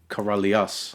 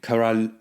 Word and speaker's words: Karalius: Is it Karalius or Karalius? So it's pronounced in Lithuanian Karalius. Karalius. Right? But I look at it and I say Karalius.